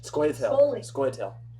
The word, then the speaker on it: Scoia'tael: Scoia'tael.